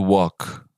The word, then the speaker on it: walk: This one, it is similar to walk, right? So walk. I was walking. Yes, you don't say I was walking, right? You don't pronounce the L.